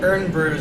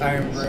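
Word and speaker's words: Irn-Bru: Oh, I guess the the Urn brews are actually pronounced Iron Brew, and we're just stupid for not pronouncing it properly.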